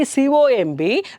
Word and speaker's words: comb: Here for co it is comb, here it is womb, and the next one here it is bomb, here it is tomb.